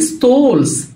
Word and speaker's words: stalls: crafts crafts crafts أشكال stalls stalls الايه هنا تنطق زي او الايه حرف الايه لو جه وراه ال ال بننطقه زي الاو كده زي tall small ball كده طب اكشاك stalls